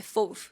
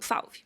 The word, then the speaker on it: Fauve: eles de Le Fauve, que é a pronúncia certa em francês, né? É Fauve, mas aqui eu chamo Falve.